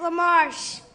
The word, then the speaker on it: Lamarche: right this is lamarche is his last name well he can say it right come up here you say it to him you say your name lamarche yeah all right and what's